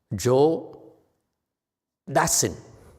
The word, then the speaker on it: Dassin: Joe Dassin. French pronounces Dassin.